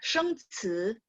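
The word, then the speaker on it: 生词: Oke, 生词, 生词, ingat, 生 nada 1, 词 nada 2. 生词生词, ingat CI bacanya ci, C ada angin, ci, 生词.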